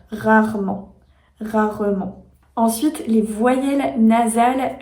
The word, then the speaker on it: rarement: ou même le mot rarement rarement c'est un mot un peu plus compliqué parce que on a deux fois le son r rarement rarement ensuite les voyelles